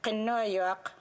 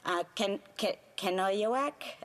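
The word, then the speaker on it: Kenojuak: I have only to mention Qinuyuaq, or as non-Inuit would say her name, Qinuyuaq Ashivek.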